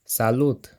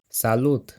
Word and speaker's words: salut: in Romanian is either salute or while in Italian it's ciao salute was borrowed from French but the t is pronounced we'll see a number